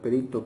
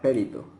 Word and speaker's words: perito: correcta algunos ejemplos son la palabra perito que como se debería describir unas personas la describen o la pronuncian Como périto por ejemplo otras palabras